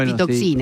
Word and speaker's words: apitoxina: Si pronuncié bien, la apitoxina. Sí, perfecto.